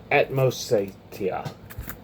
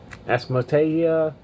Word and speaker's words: Atmosatia: Atmosatia. Atmosatia. You know, it's like atmosphere, but it's like Italian.